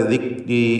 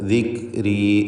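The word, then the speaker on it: ذِكْرِي: ദിക്, ദിക്രി, ദിക് എന്ന ശബ്ദത്തിന് ചലനം വരരുത്. എന്നാൽ തീരെ കേൾക്കാതെ ദിക്രി, ദിക്രി എന്നും പറയരുത്. ദിക്രി, ദിക്രി.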